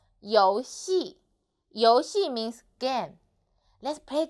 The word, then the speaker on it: 游戏: 游戏, 游戏. So, this syllable actually is final.